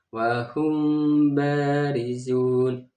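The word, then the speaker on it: وَهُمْ بَارِزُونَ: Cara membacanya ini harus samar dan juga ada dengung. Jadi cara membacanya wahum barizun. Hum barizun itu bibir agak tertutup tapi agak ada rongga sedikit ya untuk dengungnya.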